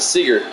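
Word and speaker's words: Seager: Seattle third baseman Kyle Sager comes up next Kyle Seeger I always mispronounce that Seeger like Bob Seger one out base is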